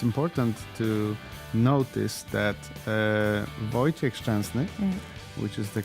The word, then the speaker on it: Wojciech Szczęsny: but I think it's important to notice that Wojciech Szczęsny, which is the correct pronunciation, he's growing with every game.